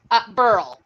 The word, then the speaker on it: Brhel: how do you pronounce your surname? Brhel.